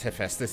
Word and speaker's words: Hephaestus: The only reason I know how to pronounce Hephaestus is because of Bioshock, of all things.